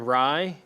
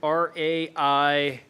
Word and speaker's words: Rai: My shining star, I'm going to go with Aaron Rye, Oh, is PGA that how you pronounce championship. that? The guy Rye. who won the PGA? RAI.